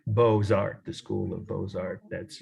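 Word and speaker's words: Beaux-Arts: planet at the time was in Paris called Bozart the school of Bozart that's uh French for beautiful I'll spell it for you if you want to write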